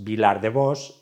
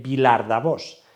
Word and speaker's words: Vilardevós: Na oralidade sempre alteraron as formas Vilardevós e Vilardavós, pronuncia da que podo dar fe porque me criei no concello veciño do Riós.